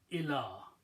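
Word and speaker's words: إلى: Then we take a lam and put a fataha and this little alif on ya. This is pronounced as ila.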